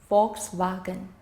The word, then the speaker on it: Volkswagen: Well, their V also become F. So, the biggest German car maker is Volkswagen. The L is in fact silent. So, the word is pronounced Volkswagen.